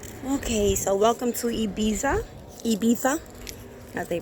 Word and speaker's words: Ibiza: Ibiza. As they pronounce it.